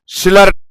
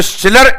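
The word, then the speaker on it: Schiller: दिया आप लोगों ने सिलर इसको एक बार पढ़ना थोड़ा इंटरेस्ट लगेगा एस को साइलेंट करके एस साइलेंट कर दे तो नालायक का नाम आता है पर अपनी आदत खराब है कि अपन किसी का नाम बिगाड़ने में समय नहीं लगाते हैं तो शिलर इसका ओरिजिनल नाम है चिलर अपने लेक्चर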